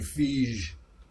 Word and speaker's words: Feige: Yeah, and like I said before, he told me to pronounce his name Fige.